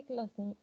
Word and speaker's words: classent: Les sports collectifs se classent C'est classe. On ne prononce pas E-N-T. Jamais.